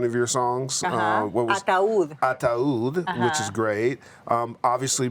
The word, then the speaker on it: Ataúd: How do you pronounce this song? Atad? How do you say it? A what? You won a Latin Grammy for one of your songs. What was Ataúd.